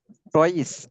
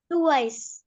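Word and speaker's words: twice: টয়েস, এটা হচ্ছে উচ্চারণটা, উস্তাদ, হ্যাঁ উচ্চারণটা হবে টুয়াইস। হ্যাঁ, টুয়াইস, উচ্চারণটা টুয়াইস হবে, এটা টয়েস হবে না, টুয়াইস।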